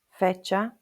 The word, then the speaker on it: fecha: So it's a ch sound like in cheese, coche, ducha, fecha, and the name is che.